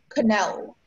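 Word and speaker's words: quenelle: Your word is canal. Can I have all the information, please? Yeah, sure. Canal is the only pronunciation.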